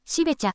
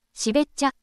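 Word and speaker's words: 標茶: 視聴者様から読み方はしべちゃではとのご指摘をいただきました生まれてこの方ずっと茂っちゃと読み間違えてたことに初めて気づく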